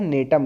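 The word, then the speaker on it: Gnetum: देखिए यहां पे जी जो है साइलेंट होता है। जी एन ई टी यू एम है तो यहां पर जी साइनेट होगा। इसको हम बोलते हैं नेटम।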